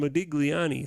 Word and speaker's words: Modigliani: So here's what Miller and let me pronounce the name right. Miller and Modigliani say.